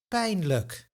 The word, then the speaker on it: pijnlijk: And what about a word such as pain? Look. Why are the first and second syllable pronounced so differently?